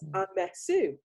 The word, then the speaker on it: Amesu: The emphasis for everyone's benefit is on the F. It's Amesu.